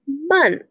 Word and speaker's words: month: underlined is the word month and the o in the word month sounds like uh like in the word from so it has been